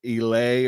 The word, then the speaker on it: Elie: I think it's Elie or something like that, but I refuse to pronounce his name any other way than how it's spelled, which is E-lie, because E be lying.